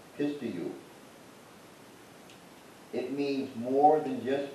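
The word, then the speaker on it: πιστεύω: I did a little extra work here, not much, but so the Greek word for believe in the New Testament is pronounced pistiu.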